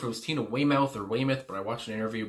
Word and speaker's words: Weymouth: couldn't remember if it was Tina Weymouth or Weymouth but I watched an interview before this and she pronounced it as Weymouth so there you go